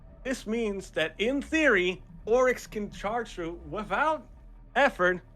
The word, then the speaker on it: Oryx: Pronunciation, I know, close to Onyx, but his name is like Oryx.